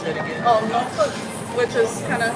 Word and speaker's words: Norfolk: Oh, Norfolk, which is kind of how, well, it's spelled Norfolk. I know. Kind of like that, but a lot of the locals out there will say Norfolk.